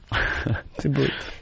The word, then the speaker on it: debut: Congratulations Waking up with whoopee made its day butt today on Anthony that tea Is silent ah Not really I think it's kind of soft Tea Debut.